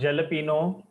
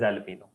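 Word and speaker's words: jalapeño: a chili pepper yes the pronunciation is alapo not jalapeno alpino you know Domino those red chili pepper it is present that is alapo and pizza again another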